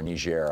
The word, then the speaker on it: Niger: soldiers died in Niger, or Niger, I guess is how it's a French colony pronunciation, and to what extent